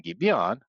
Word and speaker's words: Gibeon: So we plug in Gibeon, which rhymes with the valley of Ajalon, Gibeon, Ajalon.